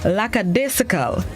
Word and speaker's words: lackadaisical: in your lifetime lackadaisical it is spelled l a c k a d e i s i c a l like a disciple it's an additive which